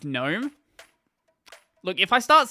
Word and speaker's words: GNOME: I started with PopOS because I like KDE Plasma more than GNOME.